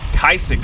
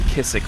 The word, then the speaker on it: Kaisik: Wing, Clemens Insurance, Bayou, I mispronounced this last year and I got a lot of trouble. Kaisik coolers. Yes, I think I was saying Kissik last year.